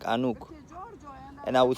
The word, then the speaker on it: Enoch: Regarding Enoch the Ethiopian, Enoch is actually, again with the pronunciation, it's Anuk, because Enoch is not how you pronounce Enoch in our language. It's Enoch. Enoch, I guarantee you, sounds like Hanuk.